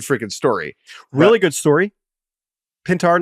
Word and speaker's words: Pintar: And who's Andrew Pintar? Not Andrew Painter. Andrew Painter, a pitching prospect. Not very available. Good. Not available with the Phillies. It is pronounced Pintar. It is not Pinetar, unfortunately.